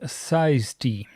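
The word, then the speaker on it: size_t: size of it is size underscore T uh pronounced size T.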